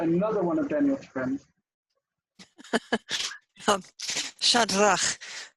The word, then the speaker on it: Shadrach: Shadrach, 2 syllables, shad and rach.